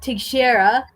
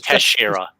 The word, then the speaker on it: Teixeira: Jack Teixeira. No, too bad Paulo went to bed because I need his Portuguese ass to help me pronounce this. It's Teixeira.